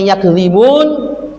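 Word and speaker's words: يَكْذِبُونَ: Kalau dibacanya yukadzibun. Tapi kalau bacanya yakzibun, kembali kepada ayat sebelumnya.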